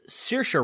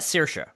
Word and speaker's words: Saoirse: it comes to mispronouncing I've heard it's Saoirse Ronan okay which if you look at it si oh I r SE how is that Saoirse I don't know I